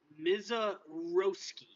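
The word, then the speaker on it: Misiorowski: It goes Miz, as in lizard. Uh, and then and then row, rhymes with how. Ski.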